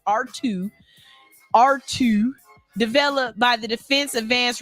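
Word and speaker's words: ARTUµ: AI system known as ART-UP, pronounced R2, developed by the Defense Advanced Research Projects Agency, DARPA, in collaboration with the U.S.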